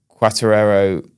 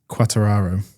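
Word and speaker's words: Quartararo: So he sat on 120 points and quaterero. Have I said that right? It wasn't bad. How do you say it? Quataro.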